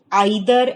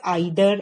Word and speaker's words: either: have heard somebody saying either and neither. So these both are correct. In American English, they pronounce it as either and neither, and in British English, it is pronounced as either and neither.